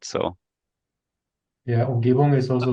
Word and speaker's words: Umgebung: How do you pronounce that exactly? Oh, Umgebung. Umgebung.